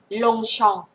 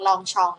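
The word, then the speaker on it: Longchamp: เสียง ออง นะ คะ ก็ กลาย เป็น ตัว เป ไม่ ออก เสียง นะ คะ เงียบ เอา ไว้ ล้ง อัน นี้ ก็ ไม่ ออก เสียง นะ คะ อัน นี้ ไม่ ออก เสียง ลง ชอง ลง ชอง ปารี มัน ไม่ เหมือน กัน นะ ไม่ ใช่ ลอง ลองชอง นะ คะ ไม่ เสียง เดียว กัน อัน นี้ เสียง องง อัน นี้ เสียง ออง ลง ชอง ปาริ ลง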